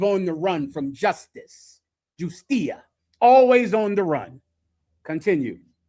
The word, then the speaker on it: justicia: Justicia. So, to not pronounce the J like a J, but to pronounce it like a H in English.